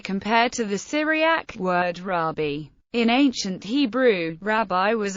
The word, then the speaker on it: Rabbi: pronunciation so far and yemenite Jews pronounce this word riby the modern Israeli pronunciation rabi is derived from an 18th century innovation in ashoni prayer books although this vocalization is